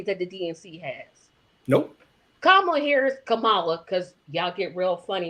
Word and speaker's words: Kamala: Kamala, because y'all get real funny about her name is. No, her name is Kamala.